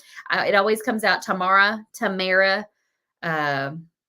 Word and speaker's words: Tamara: know but we always just say Tamara or Tamara if you want to be um if you want to say the right number of syllables but Tamara is what most people say around here rhymes with camera uh Diane says always